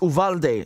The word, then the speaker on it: Uvalde: them the right way that it would be pronounced um in the u.s it's uvalde is that correct all right great thank you